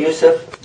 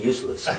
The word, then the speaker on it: Yusuf: name is Yousef esus can you say Yousef now they said it right how come you keep saying useless might be a speech